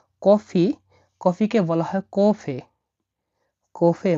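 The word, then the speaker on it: кофе: দেখুন এটা কে ও, এই অক্ষরটাকে বলা হয় এফ, এটা ই। তাহলে এরকম বৃত্তর উপর একটা টান, পেট কাটা, এটাকে ফ বা এফ আকারে উচ্চারণ করা হয় রাশিয়ানে।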